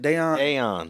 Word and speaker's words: Daiyan: Daiyan, what's it, how you pronounce it? Daiyan.